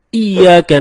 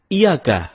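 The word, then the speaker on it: إِيَّاكَ: nabudu wa iyyaka nasta'in ada yang membacanya dengan Iyakah tidak menekan huruf Ia seperti seperti sebagaimana kita jelaskan tadi bahwa penekanan itu dapat merubah makna kalau kita baca iyakanakbudu dengan menekan huruf ya maka artinya menjadi kepadamu lah kami menyembah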